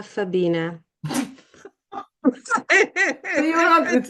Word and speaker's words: Fabina: Thank you so much for having me and I will promise I will never make mistakes instead of Fabiana Fabina.